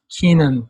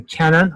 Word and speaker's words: Kenan: And then they mistakenly kept calling himself Keenan for whatever reason. And then people thought that that was the proper pronunciation. It's not. I'm half Turkish, half Irish. Turkish side calls me Kenan. I call myself Kenan. And most people usually call me Kenan.